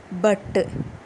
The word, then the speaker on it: pour: இதில் UR silence. So நம்ம போ அப்படின்னு தான் ப்ரொனவுன்ஸ் பண்ணணும்.